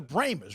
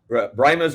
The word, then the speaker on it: Brahmas: Pewitt the brahmas and you're the brahmers right that's that's kind of like that's how it's said there that's right brymas or if you're real Old Timer then they're bramers the bramers I am an